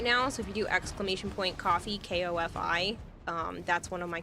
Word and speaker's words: Ko-fi: No one pronounces that coffee, apparently. Huh? It's supposed to be coffee.